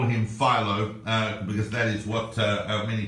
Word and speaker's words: Philo: course is someone called filo of Alexandria sometimes pronounced Philo sometimes filo that feel on in the Greek I'm gonna call him I'm gonna call him Philo because that is what